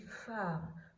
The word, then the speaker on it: phare: Phare. Je dis phare. Donc le P ne fait pas le son P. Le H qui ne fait pas de son d'habitude se met avec lui pour faire un nouveau son, le son F. Je vois bien la lettre P, mais je ne l'entends pas.